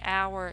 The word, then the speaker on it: hour: beginning with the H, hour? Because when you say hour, you don't hear the H. The H is silent. You actually hear a vowel sound, ow, a soft sound.